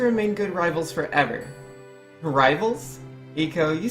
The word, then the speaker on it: Eiko: Or Eiko, excuse me, it's Eiko. I'm saying it wrong.